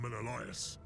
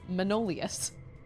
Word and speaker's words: Menelaus: I bet that worked on Menelaus. He had just pronounced his name, and I had just forgotten, and I read that as Manolius.